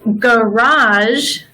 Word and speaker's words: garage: So the word garage has both the hard G and the soft G.